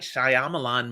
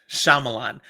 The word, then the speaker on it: Shyamalan: are there M Knight Shyamalan crap I'm looking at it going you are looking at this and trying to pronounce it as English it is not English don't read it that